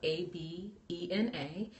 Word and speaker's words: Abena: Abena is spelled A-B-E-N-A.